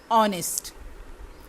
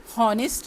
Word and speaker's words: honest: HONEST, इसका H silent है। ऑनेस्ट, हॉनेस्ट नहीं, ऑनेस्ट।